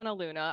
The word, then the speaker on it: Lughna: challenging so I'm Luna I always people it's like Sapphire like the singer and then Luna like the moon so Luna and I go by